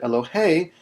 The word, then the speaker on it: Elohei: So here on this word Elohei, the accent is on the last syllable.